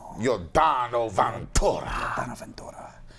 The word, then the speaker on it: Yordano Ventura: Yordano Ventura.